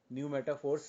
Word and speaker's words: pneumatophores: न्यू मेटाफोर्स starts with P, P silent रहता है, PNEUMATOPHORES, न्यू मेटाफोर्स।